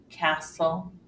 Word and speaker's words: castle: the final exception occurs when T is silent and this is often when it comes after an s in the middle of a word for example listen Castle and fasten you don't